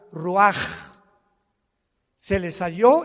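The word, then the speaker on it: רוח: Se pronuncia la ch en hebreo como J. Roaj, se le haó y se traduce espíritu.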